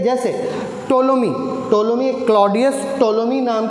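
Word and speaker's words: Ptolemy: ठीक है, जैसे टोलोमी क्लॉडियस टोलोमी नाम के एक ग्रीक मैथमेटिशियन रहे हैं। ठीक है, इसको पी साइलेंट होता है इनके नाम में।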